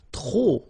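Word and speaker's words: trop: you want to use tro and tro means too many okay then you will have to put the and the noun without the article okay remember too many don't pronounce the final pay to the and the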